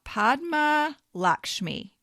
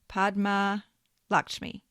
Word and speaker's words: Padma Lakshmi: Number 27, uh, Padma Lakshmi. I had to look that one up, too. I think that's how you pronounce it. Podma Lakshmi.